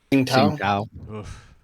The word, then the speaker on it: Tsingtao: Sing Tao? Tsingtao. Oof. It's like a very light pronunciation of that T before.